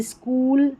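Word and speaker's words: school: और यहाँ पर देखिए SCH है, तो इसको स्क पढ़ेंगे, जैसे स्कूल, स्कीम, स्कॉलरशिप और स्कॉलर, ये सेम पैटर्न और सेम उच्चारण है।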